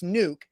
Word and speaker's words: Nuk: So Zach gets what he needs, and you don't look like an idiot for asking the Nuck or Nuke, because it's obviously Nuke.